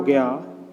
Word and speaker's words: ज्ञ: बनता है ग्या में इसे वैसे एप्स जी हां यह कहते हैं लेकिन इसका उच्चारण करते हैं ग्य कि चौथा और अंतिम